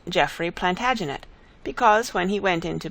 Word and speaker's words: Plantagenet: The Latin name for broom is planta genista, and gradually it came to be pronounced Plantagenet. Although Geoffrey was French, he